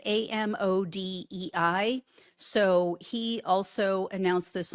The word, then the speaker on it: Amodei: And his name is, I think it's pronounced Mark Amadei. It's Amodei.